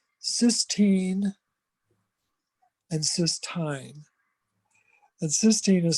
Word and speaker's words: cysteine: the weeds of it, there's amino acids called cysteine and cysteine. And cysteine is spelled Cysteine, and cysteine is without that first E, it's Cystine.